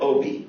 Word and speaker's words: Obey: calls to Congressman David Obie it's spelled like obey uh appropriately enough um